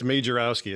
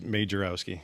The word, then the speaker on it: Majerowski: your cool last name it's like it's majorowski it's just how it looks it's made jarrowski yeah okay i like